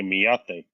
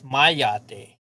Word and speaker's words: mayate: She's trying to say miyate. No, it's mayate. That's how you say it.